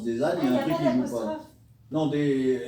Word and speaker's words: Desaignes: et apostrophé s'ériger ne s et qui se prononce des années vient me voir dans des centaines une excuse